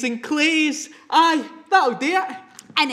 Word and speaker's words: claes: But don't worry, because instead, we are gonna use claes, which is the Scots word for clothes. Claes. Taes and claes.